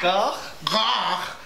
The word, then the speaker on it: gagh: Gagh is actually pronounced in the back of the throat.